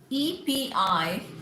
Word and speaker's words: epitome: Similarly, EPITOME, EPITOME is epitome, not epitome, epitome.